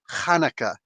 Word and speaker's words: Hanukkah: hanukkah here's that like there's h hanukkah and then there's ch which is supposed to like really show the proper phonetic pronunciation chanukah you know what i'm saying most people like chanukah no no hanukkah open it up it's a semitic sound um so he uh